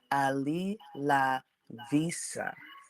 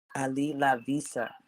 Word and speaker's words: Ali La Vista: nft collection and so the proper way to pronounce this collection is Ali La Vista Ali La Vista and quoted life AI